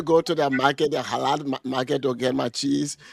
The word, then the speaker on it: halal: he's not pronouncing what is the right pronunciation sir question just you pronouncing it right just that you calling it It's halal. Okay.